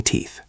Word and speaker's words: teeth: I'm brushing my teeth. Listen closely to the TH sound in teeth. It is soft, tongue between the teeth.